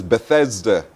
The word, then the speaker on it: Bethesda: But the pronunciation is Bethesda. Bethesda, yes.